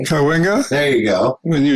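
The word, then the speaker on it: Cahuenga: I'm glad somebody said Kahena correctly. Yeah, cuz I can't even say it correctly. Kawena.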